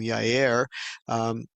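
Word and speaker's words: Jair: rightism uh judge named yair transliterating or translated into English it will have a j but in Hebrew there is no J sound it is a y sound and uh so that's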